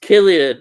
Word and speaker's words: Cillian: Cillian is pronounced Killian, Ian.